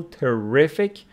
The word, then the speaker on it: terrific: So stress of terrific falls on the second syllable, terrific, but the stress of this one falls on the first syllable, making it terrible.